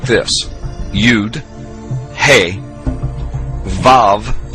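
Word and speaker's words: ו: The Hebrew letters sound like this: Yud, He, Vav in the modern Hebrew, or Wah in the ancient Hebrew, and then He.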